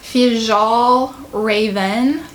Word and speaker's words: Fjällräven: I'm pretty sure it's pronounced Fjällräven.